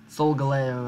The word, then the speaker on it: Solgaleo: Solgaleo, I think that's how I choose to pronounce it. Because Sol is sun, and Galileo, who's like, look at the sun, yo, but don't actually look at it, that'll hurt your eyes.